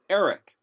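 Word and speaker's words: ערך: But if you look at, and I know we haven't gone through the letters yet, but if you look at Ayin Resh Kaf, it's basically pronounced Eric, and it means to assess, to evaluate, to determine something's worth that you otherwise had no regard of.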